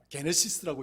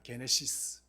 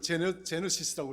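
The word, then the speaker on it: γένεσις: 우리가 창세기를 헬라어에서는 게네시스라고 이야기합니다. 게네시스. 그럼 우리는 이제 영어로는 제너시스라고 이야기하죠. 제너시스라고 이야기하는데 헬라어 원어에는 게네시스라고 발음을 합니다.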